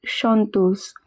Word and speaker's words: chanteuse: Un producteur dit à une chanteuse. CH is always pronounced as sh. An is always pronounced as on. Chanteuse, meaning singer.